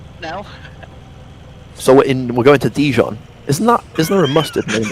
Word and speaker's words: Dijon: It's pronounced Dijon.